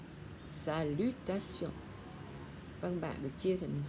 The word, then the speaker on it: salutation: T-I-O-N, âm đọc là sion, salutation.